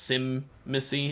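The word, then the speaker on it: Tzimisce: is how you start it even though it's pronounced simy it's spelled weird but I think you'd like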